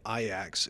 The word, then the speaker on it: Ajax: team out of amsterdam called iax it's spelled ajax but we went to